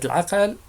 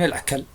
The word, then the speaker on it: العقل: هكذا ينطق اليهود المغاربة كلمة العقل فيقولون العكل، وكانوا يطلقون هذا المثل